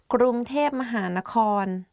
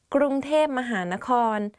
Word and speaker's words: กรุงเทพมหานคร: I'm Jay and today we are going to do top 10 hardest words to pronounce. Let's begin. กรุงเทพมหานคร Bangkok กรุงเทพมหานคร If you go to Thailand and